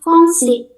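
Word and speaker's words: français: Yang selanjutnya ini bacanya fongsi fongsi cuman berhenti di I s terakhir mau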